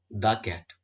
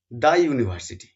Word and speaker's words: the: দা এর উচ্চারণ করব কারণ ইউ একটা কনসোনেন্টের সাউন্ড দিচ্ছে আর কনসোনন্টের সাউন্ড দেওয়া মানেই কিন্তু টি এইচই দা এর উচ্চারণ হবে দা ইউরোপিয়ান কান্ট্রি।